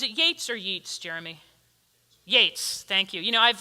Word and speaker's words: Yeats: Yeats, thank you.